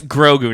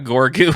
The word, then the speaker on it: Grogu: All right, It's Grogu, not Gorgu.